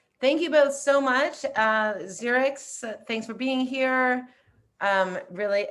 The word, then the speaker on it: Zxerex: How do you pronounce it? Your name? Zxerex.